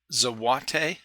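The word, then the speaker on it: złoty: of currency so what day is how it's pronounced zawate yeah wow I've never heard of it the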